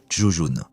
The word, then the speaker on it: Zhurong: par Tianwen-1, serait nommé Zhurong. Dans la tradition de traduction russe, cela peut se prononcer comme Zhuzhun.